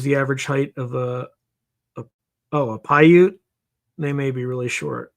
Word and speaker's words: Paiute: Paiute is, I'm going to spell it phonetically like I would in the military. Papa, Alpha, India, Uniform, Tango, Echo. Paiute.